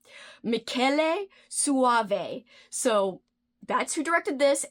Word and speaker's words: Michele Soavi: I have loved everything I've ever watched from this director, and I googled how to pronounce his name, so hopefully this is right. Michele Soavi.